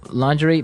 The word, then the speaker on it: lingerie: It's spelled L I N G E R I E. Lingerie.